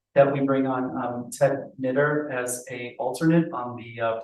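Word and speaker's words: Knuetter: we bring on Ted Knitter as a alternate on the planning board. Do I have a motion sure, I'm gonna have to get the spelling, I think it's K-N-U-E-T-T-E-R. Pronounce knitter.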